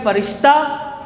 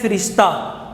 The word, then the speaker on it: فرشتہ: اچھا، اس کے دو تلفظ ہیں، اس کے دو تلفظ ہیں، ایک ہے فرشتہ، ایک ہے فرشتہ، یعنی فا کے نیچے زیر بھی ہے اور فا کے اوپر زبر بھی ہے، یعنی دونوں طریقوں سے اس لفظ کو پڑھا جا سکتا ہے۔ بات کی سمجھ آ گئی؟